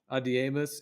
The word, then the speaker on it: Adiemus: Sounds like the word Adonis. Adiemus.